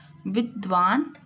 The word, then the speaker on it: विद्वान: आप जैसे विद्वान, अभी जैसे मैंने बताया ब्रह्मचारी आधा हा, तो यहाँ पे भी हलंत लगा है तो दा का उच्चारण आधा दा के रूप में किया जाएगा। विद्वान से मैं धर्म के बारे में जानने के लिए यहाँ आ गया था।